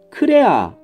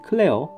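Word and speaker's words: クレア: 일본식 발음으로는 크레아, 크레아라고 하죠. 크레아 또는 클레어.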